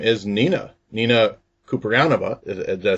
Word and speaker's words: Kouprianova: have with me her name is Nina Nina ceranova did I say that right Nina yes you